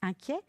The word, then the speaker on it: inquiet: qui est l'adjectif qualificatif inquiet il n'est pas très difficile à écrire hein attention à sa terminaison et T mais qu'on prononce et un peu comme un gringalet et donc il se